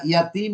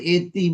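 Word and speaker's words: يتيم: হ্যাঁ, ইয়াতিম মানে আসলে এতিম, এটা কিন্তু আসলে ছিল ইয়াতিম। আমরা কিন্তু ইয়াতিম, ইয়াতিমই বলা উচিত, কিন্তু আমরা বলি কি, হুম, এতিম। আমরা বলি এতিম এতিম, আসলে হুম, ইয়াতিম, শুদ্ধ উচ্চারণ হচ্ছে হুম, ইয়াতিম।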